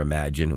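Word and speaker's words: Imagen: Now I've been calling it Imagin for a long time but it's actually pronounced Imagine. It's just spelled differently.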